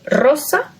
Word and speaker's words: Rosa: for the song but the pronunciation when it's at the beginning the r yes we say Rosa right that's the name Rose but we also find it with two r's okay it's always pronounced strong because it's at the